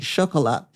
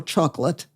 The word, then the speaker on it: Chocolat: I'm not going to spoil the movie for you, but I would recommend that movie to anybody, Chocolat, or Chocolate, for those of not French pronunciation.